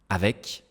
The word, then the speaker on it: avec: Regardez, avec, le C ici est prononcé dans le mot.